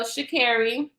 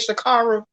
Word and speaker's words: Shakira: was about our girl shakira that's how you say her name it ain't shikaru i'll be saying everybody